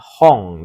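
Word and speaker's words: 本: Hai, saya percepat saja untuk soal nomor 3 karena relatif lebih mudah, yaitu jawabannya nomor, ya, Nomor 2 ya, yaitu bacanya hong desu ne. Itu kanji hong.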